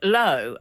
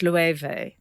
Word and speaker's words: Loewe: There was one that I looked like one syllable word, and it turned out it had three. Frank said, "Oh, lo," and I said, "No, it's lueve."